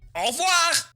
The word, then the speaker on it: au revoir: Au revoir!